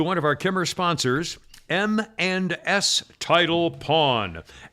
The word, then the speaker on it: M and S Title Pawn: and s title upon i'm saying it that way because it sounds like eminence and you can't know how to spell it the company is m the letter m and the letter s title pawn m and